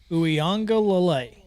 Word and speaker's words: Uiagalelei: That's the emphasis on ang and lay. Uiagalelei.